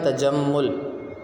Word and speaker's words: تجمل: سے تلفظ واضح کریں۔ پہلا لفظ ہے تجمل، تے کے اوپر زبر، جیم کے اوپر زبر، میم کے اوپر تشدید کی علامت اور پیش، یہ لفظ بن جائے گا تجمل۔ اس کے بعد دوسرا